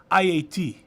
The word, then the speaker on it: Haiti: a song and he's Haitian and if you if you for the interest of pronunciation it's IAT IAT if you want to say it like the Haitian but here in America we say Haiti anyways where did that